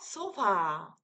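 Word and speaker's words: ソファ: 소파. 쇼파예요, 쇼파. 거실에 있는 그 쇼파를 일본식 발음으로는 소파라고 읽습니다.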